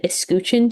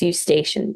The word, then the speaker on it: Eustachian: I said escutcheon tube because escuchar means to listen. So you should say it like escuchar. It's a tube in the ear. It's eustachian tube.